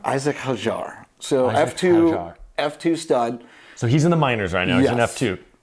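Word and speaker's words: Isack Hadjar: Isaac Hajar? Isaac Hajar.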